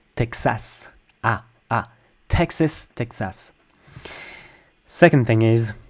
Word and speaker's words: Texas: It's almost like there's an H after the T like Texas.